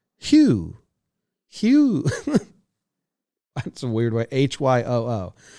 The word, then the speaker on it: LeMahieu: Baseball Reference has his pronunciation as LeMahieu. Hugh. It's Hyoo.